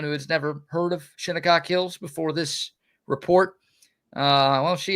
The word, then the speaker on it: Shinnecock Hills: Open, of course, happened last weekend at Shinnecock Hills Golf Club in New York. I believe I'm pronouncing it right. Shinnecock Hills.